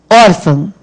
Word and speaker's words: órfão: Órfão. Qual é a sílaba tônica de órfão? O órfão. É o or, não é isso?